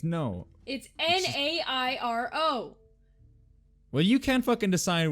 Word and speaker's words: Nairo: It's Nairo. Well, you can't fucking decide what it's pronounced either, so... Nairo. There's no Nario. Nairo. It'd be Nairo. That's what I was thinking. Cairo is a C.